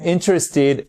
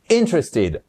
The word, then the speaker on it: interested: I'm interested in. Interested. Attention, accentuation sur la première syllabe. C'est malin de dire syllabe, de mal le prononcer alors que c'est le mot syllabe. Bref, interested et pas interested. OK?